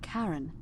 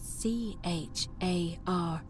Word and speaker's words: Charon: The name you heard wasn't Karen. It was C-H-A-R-O-N, as in Charon, the ferryman of the dead.